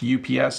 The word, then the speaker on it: UPS: So that's how you say it in English, UPS.